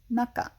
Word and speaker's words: 中: middle of um and the pronunciation that is used in names is naka and it's very common